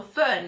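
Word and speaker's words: Föhn: La variante con la F, quindi la variante phone o phone propriamente però è pronunciato Phön, è spesso scritta impropriamente anche nella variante grafica con la PH che noi utilizziamo spesso come phone.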